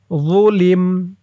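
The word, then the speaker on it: ظُلِمْ: মান যুলিম, যুলিম, এ ত চিহ্নতে অক্ফ করার কারণে মিমের উপরে জবরটা সাকিন হয়ে গেছে। লামের নিচে জের দিয়ে মিমকে ধরলে যেমন উচ্চারণ হয় এখানে তেমন উচ্চারণ হবে।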